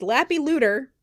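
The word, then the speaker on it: Leppalúði: and it's pronounced Lappy Looter.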